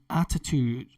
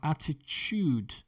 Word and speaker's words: attitude: Okay, on this side of the Atlantic, the TU for TUDE, we pronounce ch, like a ch. Attitude. That's how we pronounce it in the UK and Ireland. And over on the other side of the Atlantic, you'll hear attitude.